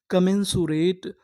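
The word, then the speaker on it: commensurate: और आगे एम हमारा दो बार लिखा है। कितनी बार पढ़ेंगे? एक बार।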